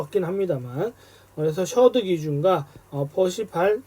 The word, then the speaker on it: Percival: 합니다만, 그래서 셔드 기준과 퍼시발 또는 퍼시벌인데 VAL이니까 그냥 퍼시발이라고 읽겠습니다.